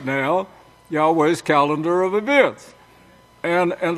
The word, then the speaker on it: Yahweh: they is trying to say the name wasn't pronounced Yahweh they're lying of course but there was a